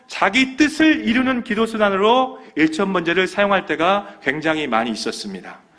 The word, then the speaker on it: 일천 번제: 일천 번제를 드리게 됩니다 여기서 일천 번제는 발음을 똑바로 하셔야 됩니다 1천번 제가 있고 일천 번제가 있습니다 여기서이 번이라는 것은 횟수 번이 아니에요 태울 번입니다 4절 말씀에 우리 산당이